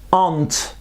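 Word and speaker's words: aren't: là elle se prononce an une seule syllabe et pas de r an an are plus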